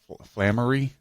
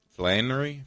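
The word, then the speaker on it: Flanery: his name the guy that played Sean Patrick flamery is that how you say it land Flannery Flannery Sean we'll call him Sean yeah anyway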